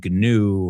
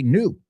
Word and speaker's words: gnu: That G is silent. We don't say gnu or anything like that. We say new.